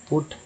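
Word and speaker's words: put: पीयूटी पुट में यू का उच्चारण क्या हुआ था, तो ऊ के रूप में पुट।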